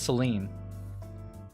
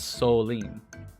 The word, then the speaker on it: Soline: I I guess like I I I've been pronouncing this as Seline, but it's Solene.